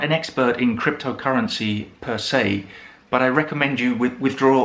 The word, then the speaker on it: per se: And another very common fixed expression that we use in English with per, which is also from Latin, is per se. Per se. So that's the pronunciation per se.